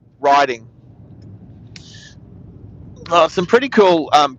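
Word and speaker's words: Rhyding: Well, it's Can you see how it's spelled? R H Y D I N G. Riding.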